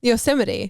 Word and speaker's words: Yosemite: wait is that how you say it yosemite yosemite yeah not the operating system because that's also